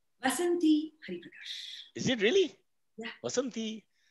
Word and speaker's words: Vasanthi Hariprakash: So what is the right pronunciation? Vasanthi Hariprakash.